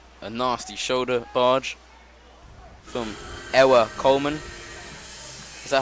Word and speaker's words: Ewa: I guess he can pronounce it any way he wants, but looking at it, I would just say Ewa.